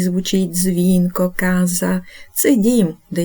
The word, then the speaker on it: casa: епойвай аказа Отже домовилися Каза і касса це різні речі вимовляємо їх чітко звертаємо увагу на подвоєні літери І до наступних випусків